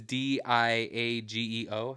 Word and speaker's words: Diageo: It's Diageo. How would you pronounce that?